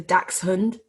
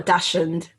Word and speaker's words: dachshund: from mr big that it's a dax hunt yeah yeah not a dashand he's got the pronunciation